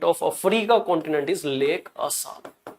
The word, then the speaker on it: Assal: So the lowest point of Africa continent is Lake Assal. You can pronounce it as Assal, ASSAL. Okay.